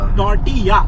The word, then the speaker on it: tortilla: When you read L-L... -Tortiya. -Tortiya, yes. That's 'Tortilla' when we pronounce.